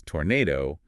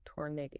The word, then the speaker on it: tornado: Whereas tornado has the stress on the second syllable. Tornado.